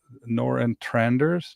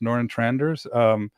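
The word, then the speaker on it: Nørretranders: It's Noran Tranders. Noran Tranders.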